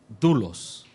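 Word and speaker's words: δοῦλος: Se pronuncia doulos.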